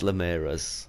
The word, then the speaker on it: Linares: Ramirez is an insult ooh sorry yeah it's Linares sorry about that man but yeah this is